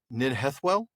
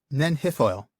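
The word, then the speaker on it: Nen Hithoel: And I'm going to maybe mispronounce this, but you're going to help me on it. Ninhethwell? Ninhethoil? Nenhithoil.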